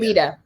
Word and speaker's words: Letta: Did I pronounce that right, Letta, or is it Lita? Lita. Lita. Okay, I've been pronouncing it wrong this whole fucking time.